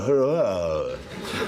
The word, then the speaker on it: Huayra: It's called the Hurrah. It is. It's spelt Huayra.